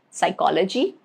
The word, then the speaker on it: psychology: Rule number 1, it is silent in the combinations PS, PT, and PN at the beginning of the words, okay, like psychology, pterodactyl, pneumonia, okay, these three words.